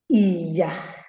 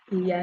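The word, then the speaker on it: ìyà: And also Iya. Iya is low. That is do. It means suffering.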